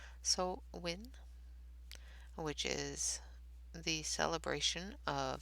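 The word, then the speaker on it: Samhain: to make sure i have the actual pronunciation of it which is so win which is the celebration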